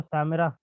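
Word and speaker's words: שומרון: حوالے سے ہے کہ شامرون یا شامرا عبرانی تلفظ ہے جو کہ عربی زبان میں شین کو سین سے تبدیل کر دیا جاتا ہے، چنانچہ عربی میں اس کو سامرہ پڑھا جاتا ہے، جیسے کہ یشوع،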